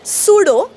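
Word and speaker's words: pseudo: नाही रू नंबर एक जेव्हा पी आणि एस एकत्र येतात प्लस एस तेव्हा पी सायलेंट होतो जसं की सायकॉलॉजी सायकट्रिस्ट ओके सुडो म्हणजे खोट केव्हा बनावत बघा स्पेलिंग कसा आहे स्क्रीनवर तुम्हाला दिसतय सुडो ओके रू नंबर टू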